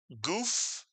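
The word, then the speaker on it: גוף: The gimmel, the shurukq, and the final fay. How would you pronounce this real Hebrew word? If you said goof, you are correct. This is the Hebrew word goof.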